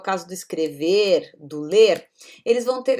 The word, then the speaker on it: escreve: Observem que aqui eu digo escrevo, né? Só reforçando essa questão da pronúncia, né? Então eu trabalho, eu escrevo, é um som de U no final. E aqui ele escreve, você escreve, né? Com um som de I já no final.